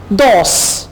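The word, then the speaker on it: dos: दोस, दोस, दोस कहते हैं दो को। अब आपने इसको डॉस नहीं कहना है, यानी डाल से प्रोनाउंस नहीं करेंगे, आप इसे प्रोनाउंस करेंगे दाल से, दोस।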